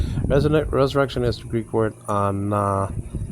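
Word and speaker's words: ἀναστάσεως: Resurrection is the Greek word anastaseos. Anastasios. Now, Anastasios is spelled out ANASTASEOS, or alpha with the salt breeding marker, so it's not hot.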